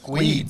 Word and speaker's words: Guedes: Guedes. So yeah, Andy Manton versus Liam Guedes. Yep. When Liam comes to Gabba Troopers, it's written on the back GWEEDY. So people okay. can pronounce it.